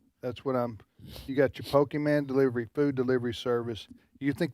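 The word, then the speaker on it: Pokémon: That's what you got your Pokemon food delivery service.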